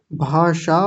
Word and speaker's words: भाषा: और बताइए कोई बताऊं हां जी बताइए भाषा भाषा उच्चारण भी बहुत अच्छा और उदाहरण भी बहुत अच्छा